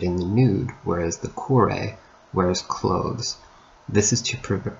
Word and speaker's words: kore: The female counterpart is kore, or kori to use a more modern pronunciation.